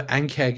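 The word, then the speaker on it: ankheg: I'm also wondering about the NK acid I still have. Like, I don't know what to do with that. with the ink? The NK acid. Oh, the ankeg acid, right? Yeah, I said it wrong.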